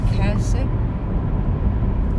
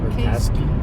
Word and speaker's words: Kasky: Yesterday morning, we went to an event where Cameron Kasich, how to say his last name? Kasky?